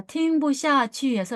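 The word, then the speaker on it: 听不下: 있을 수가 없어라는 표현은 팅부 샤라고아 경성으로 발음을 합니다 자 팅부 샤에서 여기 샤 취를 사용해서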